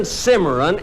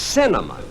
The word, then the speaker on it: cinnamon: pronounce the canyon look it isn't Simran it's cinnamon now let me ask